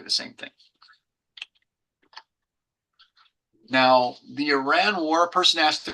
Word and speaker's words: Iran: He says, "It's E and a guy named Ron." So, Iran, it's not Iran, it's not. It's Iran.